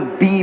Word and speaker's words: BE: today two products today so let's first begin by talking about be I just want to clarify again it's spelled be e but the brand is pronounced